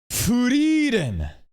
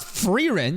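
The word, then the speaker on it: Frieren: Yeah, I pronounced it wrong. Really? Are you just saying Furen? Not Ferin.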